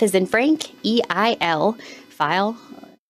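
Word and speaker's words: Feil: File. F as in Frank, EIL, File, rhymes with smile.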